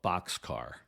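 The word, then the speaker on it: Bockscar: That B-29 had the nickname of Boxcar. That's spelled Bockcscar. It was a play on words, like a railroad boxcar, but spelled differently because it was first commanded by Captain Frederick Bach.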